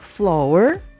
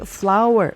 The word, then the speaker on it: flour: Bacanya bukan flour, bukan floor, tapi flower, seperti flower bunga. Ya, bacanya mirip.